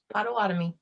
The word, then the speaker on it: Potawatomi: make sure of something pronunciation is your nation potawatomi yeah good job potawatomi um caitlyn curtis is